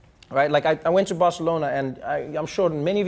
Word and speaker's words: Barcelona: Then it's like, it's not Barcelona, it's Barcelona. It's like, no, this is alternative pronunciation.